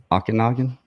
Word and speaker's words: Okanagan: And our other guest, he is creator of Okanagan Bigfoot.